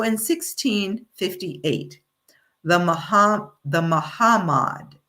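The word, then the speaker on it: Mahamad: So in 1658 the Muham the Mahhammad it's not Muhammad it's pronounced differently ma mahhammad I should say decided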